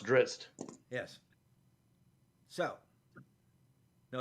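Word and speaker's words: Drizzt: uh dris dordon several times all right it's pronounced drist yes so no it's pronounced drist so I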